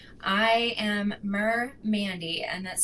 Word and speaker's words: MerMandy: I am Merr Mandy and that's spelled capital M lowercase e r capital m a n y.